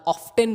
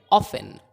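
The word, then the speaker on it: often: था उसने एक बार ऑफ्टन बोल दिया था, इसलिए अब सारे लोग वहाँ पे ऑफ्टन ऑफ्टन बोलते हैं। लेकिन ये ऑफ्टन नहीं है, ये है ऑफन, ऑफन। टी साइलेंट है, ऑफन।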